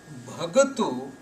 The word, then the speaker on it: Bhagatu: Bhagat is a plural word when there is ta sound at the end without any vowel sound. Ta, Bhagat. This is a plural word from Bhagatu. Bhagatu with a U sound at the end means one devotee, and when this U sound is removed, the word becomes Bhagat, and the word Bhagat means many devotees.